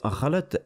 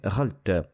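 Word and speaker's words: غلط: Au lieu de dire « ghalat », il l'a prononcé « ghalt ». Et cette prononciation est fautive.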